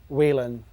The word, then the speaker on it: Whelen: management here so this is the brand new wheelen M6 V2 series lighthead Oh my days are